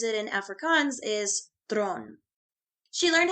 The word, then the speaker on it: Theron: goes by chariss thin but the way she pronounces it in Africans is thron she learned how to speak English from watching